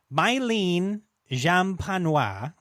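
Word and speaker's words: Mylène Jampanoï: So, Mylene Jampanois, I think is how you say the first name here.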